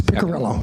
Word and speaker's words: Piccarello: So my last name, yes, Piccarello.